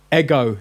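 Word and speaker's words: ἐγώ: Ego, because there's an accent on the omega. Now, look at the E. You see, it's got what's called a breathing mark. Now, it's pointing to the left, which means you don't pronounce a rough breathing.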